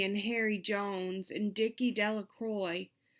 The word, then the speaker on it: Delacroix: Bobby and Harry Jones and Dickie Delacroix, the village pronounced his name Delacroix, eventually made a pile